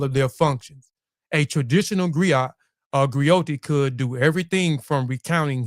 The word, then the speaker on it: griot: Griat and grioti is unique to West African. Uh a griat is a jolly profession encompass many roles. A griat pronounced grio a goi have been